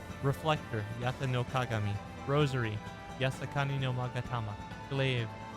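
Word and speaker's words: 八咫鏡: They're all inspired by Japan's Imperial Regalia, which I had the lovely Ryu read the pronunciations for. Reflector Yata noagami.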